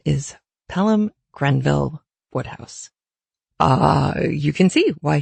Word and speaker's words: Wodehouse: for us today is what looks like Wodehouse is actually pronounced what house PG woodhouse did not